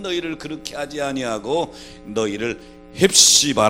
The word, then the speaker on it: 헵시바: 그렇게 하지 아니하고 너희를 헵시바 라 부르리라 입시반 은 정확히 발음하면 해 프 치바 우 라고 하는 말인데요 나의 기쁨이